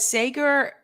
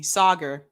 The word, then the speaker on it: Saagar: oh echo j said sager sauger excuse me sauger i've been pronouncing his name incorrectly uh sauger especially seems